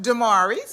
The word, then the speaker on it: Daemarii's: Daemarii's. Daemarii. I want to say it right. Okay. Say it again for me. Daemarii's.